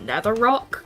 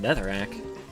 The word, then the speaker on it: Netherrack: strange to me when people would say like Netherrack instead of Nether Rock cuz that's how I pronounced it. Um it's called Netherrack.